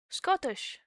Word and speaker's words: Scottish: I do pronounce it with a T. Scottish. Scottish. What's wrong with Scottish? I do usually skip out the T, but I still say the T most of the time.